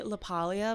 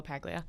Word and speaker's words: LaPaglia: name lapaglia lapaglia yeah well it's really lapalia but no one says it like that so lapaglia i was saying this